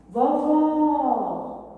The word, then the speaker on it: vovó: Vovó! Vejo que o som está aberto. Então, irei usar o acento agudo na última sílaba.